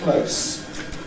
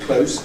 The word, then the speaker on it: close: we can also say close. Please notice that this is pronounced with a voiceless sound at the end. This is the adjective close as when you say the tongue is close to the roof of the mouth.